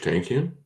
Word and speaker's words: Tankian: I have never been able to pronounce that dude's last name. Oh, Serge Tankian?